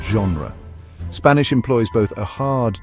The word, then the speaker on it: genre: but acquiring distinct pronunciations in French G often takes on a soft almost z sound as in the word genre Spanish employs both a